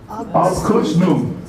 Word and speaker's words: Abkürzung: So class, all together, please pronounce the first Alsatian word. Second one? All right. Abbreviate. Abkürzung.